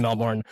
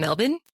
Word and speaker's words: Melbourne: They don't pronounce the R's. They're like, yeah, I live in Melbourne.